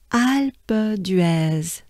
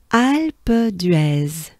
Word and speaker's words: Alpe d'Huez: take a good breath alba dress so it's kind of right it it it it's linked together right alpha dress okay one more time